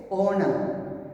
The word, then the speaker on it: honor: Because here H is silent. When you pronounce this word, you don't say honor, you say honor. So O is the vowel sound it is getting.